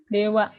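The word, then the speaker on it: では: Ini dewanya pakai H ya. Dewa. Ini tuh namanya partikel. Kalau nanti kita belajar terus, nanti kalian akan ketemu dengan partikel-partikel. Jadi ikutin terus biar nggak ketinggalan. Ini kenapa H dibacanya wa gitu.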